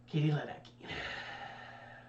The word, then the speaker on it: Ledecky: Katie Ledecky. It just feels like it should be the Polish pronunciation. But it's not.